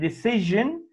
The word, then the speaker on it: decision: But here, we say S-I-O-N, discussion, and decision, S-I-O-N, decision, jin, not like shin.